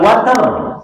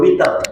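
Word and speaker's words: وتر: Wal watar, atau dalam riwayat lain disebutnya wal witar, boleh dua bacanya.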